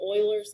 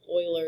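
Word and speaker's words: Euler: of crazy after that it's called Oiler constant um Oiler is spelled with a e even though it doesn't look like it should be spelled with a e it's not English um so uh we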